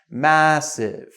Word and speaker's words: massive: So this one, you really have to open up your mouth like massive. And again, it's not massive, it's massive, massive, all right?